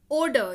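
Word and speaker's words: odour: ओडर यानी कि गंध, अब इसको ऑर्डर मत पढ़िएगा, ओडर यानी कि गंध, ओडर यानी कि गंध।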